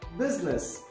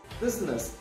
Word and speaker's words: business: c is not pronounced then business business it is not business it's business should without l yes